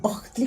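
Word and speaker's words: Ohtli: se escribe H-O-H-T-L-I, y Santos nos enseña que es la H, esa H para que signifique camino se tiene que decir Octli, como si fuera una aspiración, porque si es Octli es vino.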